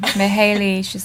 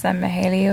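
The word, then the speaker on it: Mihály: Oh, I can never pronounce his name. Mihaly, Mihaly or something like that.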